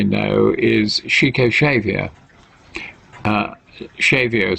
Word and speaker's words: Xavier: is chico xavier uh shavio spelt with an x xav chico is it